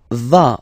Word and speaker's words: vas: Tu vas, final S doesn't exist.